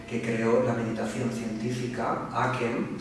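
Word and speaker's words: ACEM: Tenemos también a Jare Holem, profesor catedrático de la Universidad de Oslo, que creó la meditación científica, Aken, se escribe A-C-E-M, pero se pronuncia Aken, y fue un boom en los años 60.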